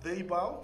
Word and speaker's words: Deibau: It's pronounced Deibau, from the Deibau clan of the Gudumaluilga Nation's top western region of the Torres Strait.